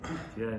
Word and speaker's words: בתיה: בתיה is the right pronunciation, הרב אדרת said.